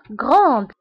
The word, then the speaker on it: grande: في الماسكولين grand والفيمينين grande. بالنسبة لغران هي كبير، و grande هي كبيرة. دونك grand ما كنطقوش دي grand، ولكن في الفيمينين كنطقوها، كنقولو grande.